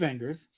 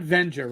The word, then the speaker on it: Wenger: apparently a fan of wenger's and it's not venger right it's wenger i gotta pronounce it